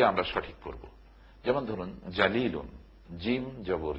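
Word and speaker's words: جليل: একেবারে বিপরীত অর্থ এখন আমরা যদি জিমের উচ্চারণ এবং জালের উচ্চারণের পার্থক্যটুকুন না জানি তাহলে আমরা এর জায়গায়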